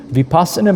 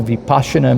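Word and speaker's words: vipassanā: So when we do vipasana meditation or vipasha meditation however you want to pronounce it we want to be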